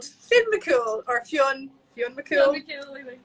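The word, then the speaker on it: Fionn mac Cumhaill: Now I've spelled it on the label, a very English way, because if we spelled it the Irish way, nobody could pronounce it. But it's Fionn McCool.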